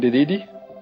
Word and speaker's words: Dedede: I can never pronounce his name. It's King Dedede? Yeah, that's it.